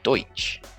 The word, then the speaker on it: Deutsch: gertrude something like that german is our way of saying the language of the germans but to them it's deutsch so there are differences